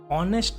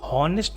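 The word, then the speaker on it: honest: ऑनेस्ट मैन, हॉनेस्ट मैन नहीं, ह नहीं पढ़ते, ओ, ठीक है, इसमें एच ह हमारा साइलेंट है।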